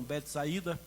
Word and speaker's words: Betsaida: Ele era irmão de Pedro, como já sabemos, e eles moravam em uma vila chamada Betsaida ou como alguns pronunciam, Betsaída, mas eu creio que a pronúncia mais correta é Bet Saida mesmo.